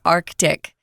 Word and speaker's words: Arctic: yeah Antarctic Antarctic yeah if an American is speaking Antarctic Arctic yeah it's common to drop it and it's not wrong so if you don't pronounce the C there don't worry about it and again this is